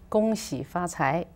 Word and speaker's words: 恭喜发财: 恭喜发财.